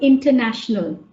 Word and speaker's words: international: For example, let's take the word international. Where is the stress in the word international? You can put it in the chat. International. International. Okay, so it's national.